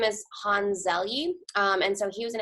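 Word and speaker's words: Hans Selye: So this man, his name is, I have to look at the pronunciation because I always mess it up. His name is Hans Zelye, and so he was an endocrinologist in the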